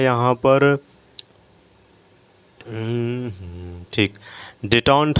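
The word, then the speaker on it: détente: इसके बाद देखिए क्या है यहाँ पर, ठीक, डिटॉन्ट हम इसे बोलेंगे, डिटॉन्ट।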